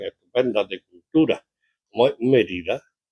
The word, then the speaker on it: Mérida: No, suena muy bien, suena mejor que Mérida, porque Mérida suena violenta, tiene el acento en la primera vocal, entonces tiene un énfasis